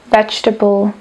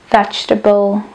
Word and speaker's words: vegetable: väčšinou prevláda tá prvá verzia ďalej tu máme vegetable vegetable tretie máme vulnerable vulnerable a štvrté je ch chocolate taký malý pronunciation typ akonáhle sa nachádza v takzvanej CV